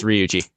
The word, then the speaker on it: Ryuji: As you are going to school for your today, you meet Ryuji. Is that how you pronounce that? Yes, Ryuji.